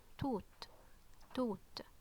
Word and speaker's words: ت: it's nothing just there okay so this is tooth okay and um as you notice here as